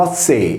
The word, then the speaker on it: Hethei: Gli Ezzei o Azzei, pronunciato Azzei, in italiano Ettei, furono